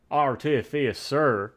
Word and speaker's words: Artificer: Artificer. It's definitely how you say it.